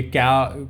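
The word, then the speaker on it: coup: में आए दिन क क होता रहता है कूप नहीं बोलते क बोलते हैं कपे होता है इसको बोलते हैं क हिंदी में क ठीक है पीई साइलेंट है यहां पे रिसेंट दो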